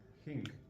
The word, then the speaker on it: ging: ging. Yeah, so this, you know there's a g here, but you don't pronounce it as a g, it's a ng sound.